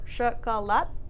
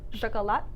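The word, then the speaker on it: шоколад: So it's written chocolat, but we pronounce it with that a sound. So chocolat, chocolat.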